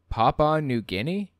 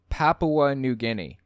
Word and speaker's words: Papua New Guinea: indonesia or in venezuela why is he pronouncing these incorrectly papa new guinea it's papua new guinea and it's not venezuela